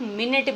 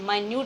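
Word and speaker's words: minute: आप क्या ध्यान दोगे ये जो स्पेलिंग है इससे आप मिनट भी बोलते हो एम आई एन यू टी ई मिनट भी बोलते हो घड़ी वाली और इसको हम एस अ प्रोनंसिएशन माइन्यूट भी बोलते हैं जिसका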